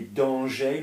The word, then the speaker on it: dangers: Voyez-vous des dangers, not danger, we don't pronounce the R, do we? There's no E.